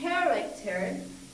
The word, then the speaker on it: character: right here manager and with character this stress is here at the beginning of the word character now this is the